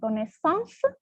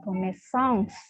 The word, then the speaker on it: connaissance: akan menjelaskan kembali, Alex, lihat coba di suku kata terakhir itu ada, ya, se. Ya, suku kata terakhir ada beberapa suku kata dalam itu, ada con, nes, sang, se. Ada 5. Ya, ada 5. Ya. Berarti suku kata terakhirnya bukan ong, tapi se. Maka se-nya harus tetap dibunyikan.